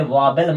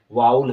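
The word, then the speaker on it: vowel: होता है ना एक इसे वाबल मत बोल दीजिएगा वाउल होता है वाल क्या होता है वा वादल नहीं होता ना वाउल सही करेक्ट प्रोनंसिएशन है वाल क्या होता है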